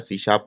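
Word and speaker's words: C#: ठीक है, तो सी शार्प, सी हैश लिखते हैं इसको, और इसको जो प्रोनाउंस किया जाता है या इसको पढ़ा जाता है वो पढ़ा जाता है सी शार्प, और ये माइक्रोसॉफ्ट ने इंट्रोड्यूस की थी अराउंड 2001 में।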